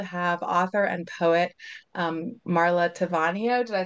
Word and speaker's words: Taviano: And I'm really thrilled to have author and poet Marla Taviano. Did I say it right? Can you correct me? Taviano, close enough, Taviano.